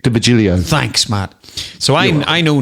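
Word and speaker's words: D'Virgilio: You can pronounce it better than me. What is it? Nick DeVigilio.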